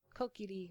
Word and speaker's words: Kokiri: I always said um cokery yeah um I suppose ether would work I mean it's not like it's uh Kokiri would be like the Japanese pronunciation and also adorable cookery